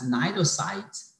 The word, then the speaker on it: cnidocyte: jellyfish, and it has cnidocytes, they put them in this phylum. So the main criteria of being a member of this phylum is having cnidocytes. C is silent, okay?